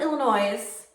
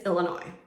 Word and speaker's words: Illinois: So number one list would be Illinois is actually pronounced with a silent S on the end. So it's not Illinois, it's Illinois.